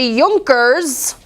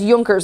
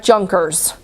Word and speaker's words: Junkers: an army and the yonkers in return for obedience to Frederick and allowing him and that's Yonkers not Junkers the J is pronounced as a you sound Yonkers it's a German